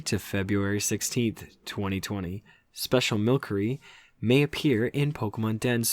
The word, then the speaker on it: Milcery: Milcery, I think that's how you say it. Milcery, yep. Milcery. I think it's Milcery. There's no K, but, Milcery.